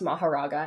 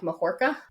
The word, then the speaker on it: Mahoraga: I heard that, because I've always heard it pronounced Mahoraga, and I don't think that that's incorrect because it is like a Buddhist term, but the way that they pronounced it in Japanese was something more like Mahorka.